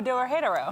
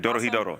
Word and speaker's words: Dorohedoro: Oh, Dorohedoro. Yeah, exactly. Dorohedoro.